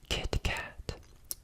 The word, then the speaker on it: KitKat: KitKat. KitKat. I think that's how Americans usually say it. Kit Kat. Kit Kat. They don't really pronounce the T fully.